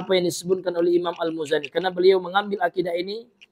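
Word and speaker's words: المزني: Jadi dibaca almuzani tidak ditasydidkan zainya. Kan ada juga Pak saya dengar ya. Ada orang yang membacanya, ada sebagian ikhwah yang membacanya dengan almuzanni. Almuzzanni ya. Ya, ini salah ya. Atau nunnya ditasydidkannya al ya al imam muzanni k salah juga. Jadi yang benar adalah al imam almuzani.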